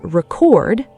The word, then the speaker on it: record: Say it as record, stress on the second syllable, and it becomes a verb, the act of recording something.